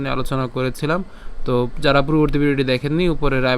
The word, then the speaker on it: ত্বে: তাহলে এখন এখানে উয়ো এবং তে যখন একসাথে হবে তখন তুয়ে উচ্চারণটা হয়ে যাবে, তুয়ে।